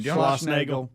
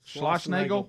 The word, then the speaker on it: Schlossnagle: Schlossnagle. Schlossnagle.